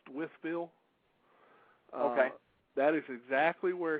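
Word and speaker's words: Wytheville: for as just so you know that's actually pronounced with Bill okay that is exactly where he is and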